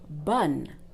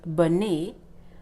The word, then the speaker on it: bonne: This word that you see on the screen is bonne. Not bonnet or bonheur. No, bonne. Why? Because the E without an accent is silent.